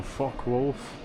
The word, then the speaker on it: Focke-Wulf: So guys, we've got a Focke-Wulf. If you pronounce it like that. If not, just don't mistake me for swearing.